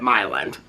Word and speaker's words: Milan: There's a town that is spelled Milan, okay, but they pronounce it Milan, okay?